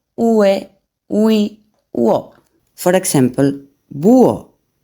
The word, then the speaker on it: búho: For example, búho, búho.